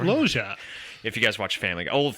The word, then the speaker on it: Loggia: All right, you're going to have to help me with this next name. Robert Loggia. Yeah, it's spelled L as in look. It's Robert Loggia.